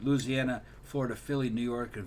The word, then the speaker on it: Louisiana: He says he's bouncing between Louisiana, that's the way you really pronounce it. Louisiana, Florida, Philly, New York, and Vegas.